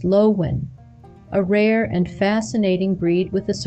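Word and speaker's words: Löwchen: That's the Lowchen, pronounced Lowen, a rare and fascinating breed with a surprisingly long history.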